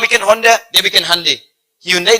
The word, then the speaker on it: Hyundai: Hyundai dibacanya Hyundai.